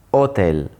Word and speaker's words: hotel: Ricordati di pronunciare bene le vocali in italiano, quindi computer, taxi, hotel, e in italiano l'H non si sente, quindi hotel, hotel, non hotel.